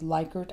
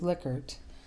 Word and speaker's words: Likert: hear people call these likert items his name pronounced correctly is lickert and you'll hear both